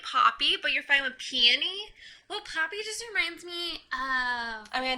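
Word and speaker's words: Peony: call her peon maybe is it peon or peie how how do you say piie piie just like that yeah piie piie okay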